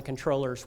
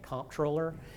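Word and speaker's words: comptroller: there there's more information about this on the controllers website and I'm glad I actually called them this morning and I'm glad I did because I had been pronouncing at comproller and they said controller so in case you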